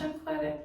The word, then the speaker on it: Shunqetta: So it's pronounced Shunqetta. But there's no U.